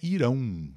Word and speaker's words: Irã: confirmar É isso aí Irã no Brasil irão em Portugal tá ali grapple a